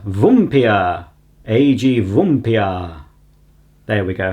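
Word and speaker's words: Vampyr: Would be something like, I know I said vampire, but he says it's Vumpir. Vumpir.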